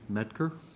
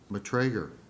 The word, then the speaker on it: Matrager: We have Tracy Ramondo, Training Coordinator with the Fire Department, Deputy Chief Chris Provenzano, Medker, is that pronounced correctly? Matrager, my mistake.